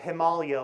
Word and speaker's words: Himalaya: They're called the training ground of the Himalaya, which I just learned from Conrad Anker is the way to pronounce that word.